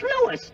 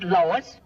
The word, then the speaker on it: Louis: Me name is Louis, not Lois. Gee whiz, everybody in Twyfel me name wrong. It's Louis.